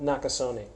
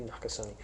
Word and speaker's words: Nakasone: hear from general Paul not Casilla not to some neck so how do you good pronounce his name not good you pronounce it e or do you just you do pronounce you okay so this morning we got to hear from 4-star General Paul Mach Paul Nakasone a NACA sunny we got to hear